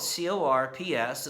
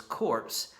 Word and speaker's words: corps: They were subdivided into smaller units referred to as corps. Spelled C-O-R-P-S. It is often mispronounced as corps. But the p and the s are actually silent.